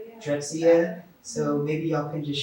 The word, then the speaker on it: Drexciya: In Drexciya, how do you pronounce it? Drexciya, yeah. Drexciya.